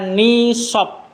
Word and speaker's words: nishab: warnai dengan warna merah ini membacanya nishob nishob many dari bahasa Arabnya